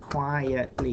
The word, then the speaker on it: quietly: Now that's a bit tricky because quietly, no, it's got to be 3 syllables. Quietly. You can't make it 2 syllables. Quietly. If you say quietly, then it's a different word.